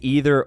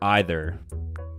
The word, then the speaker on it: either: a speech or not I say either or either ironically in wictionary the pronunciation with e is more common in North America however the usage heavily